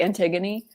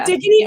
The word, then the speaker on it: Antigone: It's like it's those Greek names like Antigone. How do you pronounce that? No, the first way was right. Antigone. Yeah. Antigone.